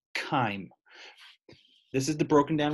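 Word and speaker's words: chyme: there's the word kind this is not pronounced chime CH yme is perhaps kind this is the broken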